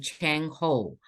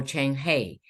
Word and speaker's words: Zheng He: And a lot of people pronounce his name Cheng Ho or Cheng He. It is because we're dealing with the transliteration of the Chinese pronunciation.